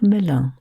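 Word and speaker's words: Melun: This time you take a train to somewhere called Milan, which is spelled M E L U N.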